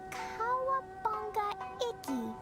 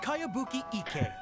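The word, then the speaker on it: Kayabuki Ikkei: By Kawabunga Iki. Yoimiya, this is a really strange name. What? Who's this Kawabunga? It's pronounced Kayabuki Ike. That would be me.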